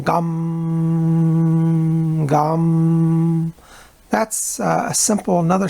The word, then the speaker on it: Gam: his bija mantra or seed mantra which is gum when you simplify it all down to the smallest simple syllable one syllable you can chant is just gum GA m gum mmm that's a simple